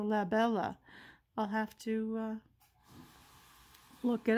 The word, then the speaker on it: Labella: and we focus and it's la bella ah i had to give it the italian pronunciation so la bella i'll have to look